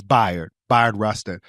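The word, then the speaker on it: Bayard Rustin: When you think of his name, think by like bisexual. It's spelled like bae, like like the bae, but it's by Rustin.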